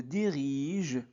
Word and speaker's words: dirigent: Alors là, il s'agit d'un verbe. Donc la terminaison e t ne se prononce pas. D'accord ? Dès le matin, les voisins se dirigent vers vers l'épicerie.